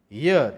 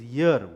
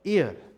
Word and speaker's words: year: The pronunciation is year, Y-E-A-R, year. Right, we Indians pronounce it as wrongly, as ear. It's not ear, it's year.